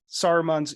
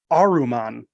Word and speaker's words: Saruman: you not realize that saruman's evil yeah and they pronounce it aruman I did so in I I wrote this down I was like there's no s they take the S off of Saruman they do and however